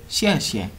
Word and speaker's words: xie xie: You just say xie xie, xie xie.